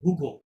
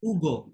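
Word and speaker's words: Hugo: আচ্ছা, এখন তাহলে আমরা ইংরেজিতে এটা নাম করলে আমরা বলতাম হুগো, তাই না, হুগো বলতাম, কিন্তু ফরাসিতে আপনি হুগো বলতে পারবেন না, বিকজ আশের কোনো সাইলেন্ট সাউন্ড নাই। তাহলে আমাদেরকে পরবর্তী লেটার থেকে পড়া শুরু করতে হবে, উ থেকে শুরু করতে হবে।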